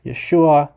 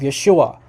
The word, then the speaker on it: Yeshua: It's a transliteration of Yeshua. So in Greek doesn't have native letters to maintain the exact pronunciation. So there's no sh sound in Greek.